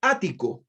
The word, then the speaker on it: ático: que tengo proyectado dice el ático así tal cual ático con acento en la a y este griego ático